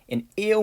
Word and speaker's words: eu: english speaker but it's it's got this like ew like ew like i don't like the way that smells kind of sound to it but it's just a